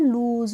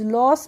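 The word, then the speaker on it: lose: हमारा एल ओ एसई इसको हम पढ़ते हैं लूज लॉस नहीं पढ़ते हैं इसको क्या पढ़ते हैं हां सॉरी फ्रेंड्स इसको पढ़ते हैं हम लूज लूज मींस होता है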